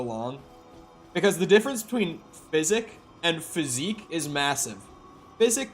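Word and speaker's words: Physick: You're saying physic is right, physique is wrong. Do a lot of people say physique?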